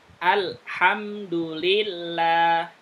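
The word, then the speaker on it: الحمد لله: Lam enggak ada le-nya, hilangkan le-nya. Jelaskan alhamdulillah.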